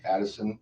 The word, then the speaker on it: Adelson: Actually, it's spelled right. I've said it wrong. Adelson.